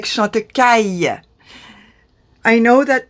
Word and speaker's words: Chantecaille: lot of brands, like Chantecaille. I know that the aïe is not a very easy sound for the non-French to pronounce, because they're not used to that sound.